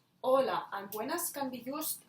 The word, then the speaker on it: hola: to write it because if we don't write it we write just hola that means wave the pronunciation is exactly the same but the meaning is